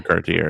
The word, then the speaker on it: Cartier: The Cartier or Cartier is that how it's pronounced?